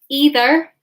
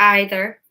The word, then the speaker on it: either: We have neither, or this can also be pronounced neither. So neither or neither, either or either, and both. It doesn't matter how you pronounce them. Either, either, neither, neither. It's all correct, okay? You can just choose whichever one you like.